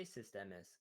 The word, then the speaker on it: Sysdemes: I say Sysdemes, but people can. Everyone says something else. I don't really care. People can say whatever they want.